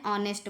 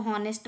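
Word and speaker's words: honest: दूसरा एग्जाम्पल देखेंगे एन ऑनेस्ट मैन। अब इसको हॉनेस्ट पढ़ेंगे तो ये गलत होगा, अगर आपको पता नहीं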